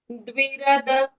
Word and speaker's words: द्विरद: यस्य द्विरद। द्वि, मैम कैसे बोलना है? द्विरद। द्विरध। द्वि करेक्ट। द्विरद। र और द का उच्चारण हम करेंगे पूर्ण।